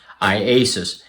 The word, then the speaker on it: IASUS: video for that iasis that's how you pronounce the name i a s iasis Mike called me just